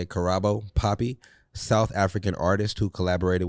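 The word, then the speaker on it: Karabo Poppy: out carabo poppy that's how you say it carabo poppy South African artist who collaborated with Nike for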